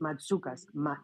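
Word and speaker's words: Mantzoukas: That's actually pronounced Matsoukas. The Matsoukas. NT together makes a D sound.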